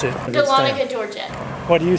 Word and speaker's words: Dahlonega: And we're at Caruso's, and you pronounce the name of this Dahlonega, town. Dahlonega, Georgia.